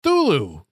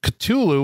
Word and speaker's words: Cthulhu: it to me but she also says thulu is one of the two acceptable pronunciations of the word that i'm going to say is cthulhu in my household the other being the relatively recent cthulhu with a barely pronounced k and a slightly drawled u there is only one other acceptable pronunciation and puny human speech organs can't handle it my kids will tell